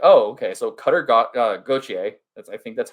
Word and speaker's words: Gauthier: He's American, so let's say Gauthier, because I don't think that they would do like the French pronunciation of Gauthier or whatever.